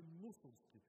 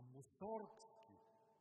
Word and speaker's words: Мусоргски: Обърнете внимание, той не казваше мусорски, защото мусор е буклук, а мусоргски набляга се на ударението. И казва, Георги, моето момче, той е мусорски, той не е буклукски.